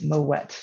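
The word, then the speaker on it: Moët: corrected uh and it's moet you actually do pronounce that t and my french colleagues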